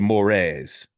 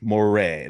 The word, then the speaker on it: Morès: the infamous historical villain marqu mores or Moray there's a bunch of different ways you can say it we're